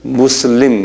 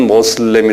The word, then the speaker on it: 무슬림: 그러고요 아 그 교인들을 무슬림 그래요 한번 발음해 보세요 무슬림 슬에 우리말로는 모슬렘이 그러 모슬리이라 그러는데에이 사람들은 무슬림 무슬림이라 그래요이 이슬람 사람들은요 이슬람 교인들이이